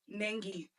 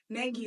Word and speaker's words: Nengi: whatever, like, people there, British people, say it right, NENGI. Nigeria, of course, NENGI. Like, I feel like it's only in America that for some reason they want to put a J in my name, and I'm just like, I just don't understand.